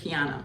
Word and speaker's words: KEONNA: I'm sorry with that name sometimes, but it's KEONNA. Yes, it's KEONNA. KEONNA. Okay, KEONNA. Let me just forget about what it sounded like. Just KEONNA. Yeah, okay, KEONNA. KEONNA. Just forget how it's spelled, and it actually means gracious gift.